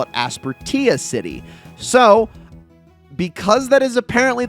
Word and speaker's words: Aspertia City: that it is technically correct to call it Aspertia City. So, because that is apparently the correct uh the correct pronunciation, I'm going to go with that.